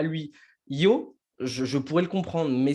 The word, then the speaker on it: yo: singulier, donc du je, on dit yo. Et c'est ce qu'on va apprendre en espagnol castillan, donc en espagnol d'Espagne. Mais en Argentine, ils prononcent CH, le Y. Donc, ça va dire chaud.